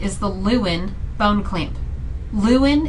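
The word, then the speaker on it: Lewin: the luin bone clamp luin is spelled l e w i n and it also is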